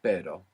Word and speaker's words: pero: So the word for but in Spanish is pero.